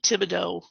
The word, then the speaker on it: Thibodeaux: you get that uh like thibodeaux um is what to do d-e-a-u-x at the end but you don't the ea ux is pronounced as a long o um so it's gonna